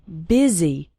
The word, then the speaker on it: busy: and fast spoken English the word busy is pronounced with an e sound busy and the word and